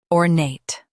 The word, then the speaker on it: ornate: Stress nate and keep or soft. Ornate.